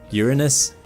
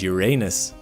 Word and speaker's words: Uranus: It even has two ways to pronounce it, as no one has been able to definitively agree on the matter: Uranus and Uranus.